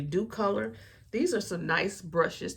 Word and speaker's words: Docolor: You guys might say Doe Color because at first I was pronouncing it Doe Color, DOCOLOR, but it's actually Dew Color.